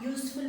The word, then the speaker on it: useful: I did not pronounce the U as a umbrella. I pronounce it as U. So, a useful book.